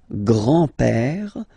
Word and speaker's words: grand-père: Le grand-père. Remember, accent grave like that. It's this open père. Le grand-père. Le grand-père. And then the feminine form, grandmother, la grand-mère. La grand-mère. Okay, so les grands-parents, le grand-père, la grand-mère.